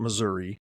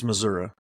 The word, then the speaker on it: Missouri: was from Kansas and my mom taught me how to say it correctly which is not Missouri it's missoui oh wait so but